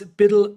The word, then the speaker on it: BUIDL: black rocks bid fund it's spelled buidl but I'm just going to call it build fund because because Biddle is hard on my tongue and anyways this marks